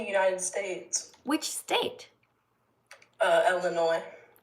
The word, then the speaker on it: Illinois: Uh Illinois. Illinois. Okay. How come they call it Illinois and then there's an S at the end? Why don't they call it Illinois? Uh because the S is silent.